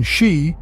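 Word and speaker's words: 四: of the number four due to its pronunciation she which sounds like death in Japanese it's often avoided in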